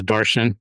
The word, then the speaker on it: Darshan: My name is Darshan. It rhymes with Martian.